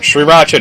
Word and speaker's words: Sriracha: Like, no, it's actually Sriracha. That's according to the, the people who actually make the hot sauce.